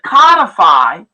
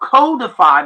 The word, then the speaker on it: codify: And then it also says it seeks to codify or codify, depending on how you pronounce it, NIL agreements, cap free